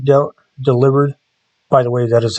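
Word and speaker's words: Delibird: Pine I do like de delivered by the way that is how it's pronounced it's not a delivery bird it's a play on the word deliver sneez is really good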